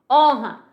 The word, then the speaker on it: honra: Honra. Eu tenho cinco letras e três problememas. Por quê? Eu tenho um H que não tem fonema.